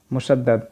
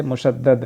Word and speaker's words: मुशद्दाद: तो उत्तर होगा 'मुशद्दाद'। जिस पत्र में तशदीद होती है उसे 'मुशद्दाद' कहते हैं। यह 'मुशद्द' नहीं है। इसका सही उच्चारण 'मुशद्दाद' है।